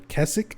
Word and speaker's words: Keswick: um derwent water in keswick or kessick i think it's supposed to be pronounced but it's spelled like keswick but yeah the